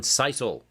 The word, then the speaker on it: sisal: All right, so let's get out our piece of sisal rope. I did look that up. That is the correct pronunciation, sisal.